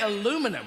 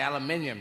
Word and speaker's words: aluminium: say caterpillar and uh now you say aluminum we say aluminium you say centrifugal we